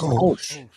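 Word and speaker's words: Kölsch: How you pronounce Klosh? Klosh. Kolsch. That's Kolsch.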